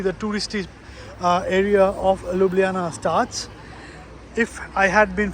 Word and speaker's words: Ljubljana: at the capital city called uh lublana or as the locals say lublana now I have chosen